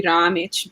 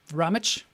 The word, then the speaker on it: Ramic: very spot on yeah it's bosnian so um uh i guess technically it would be ramich but that's kind of a hard name i feel to pronounce rummage i can do it